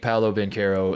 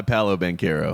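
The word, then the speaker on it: Paolo Banchero: yeah and i think paulo ben carro is uh awesome it goes by paulo banquero yeah i think that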